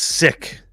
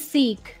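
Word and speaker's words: Sikh: they never bet I heard his pronounced sick no it's seik the Punjabi that he corrected me he said sick that's what that one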